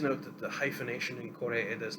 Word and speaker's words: Koreeda: Um, Please note that the hyphenation in Koreeda's name is simply to uh, indicate the proper pronunciation for English speakers. There is no hyphen in his name in Japan. Koreeda.